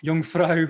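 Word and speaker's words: Jungfrau: time winner of the jungfrae ma young frau marathon in switzerland got to get it pronounced right um and if he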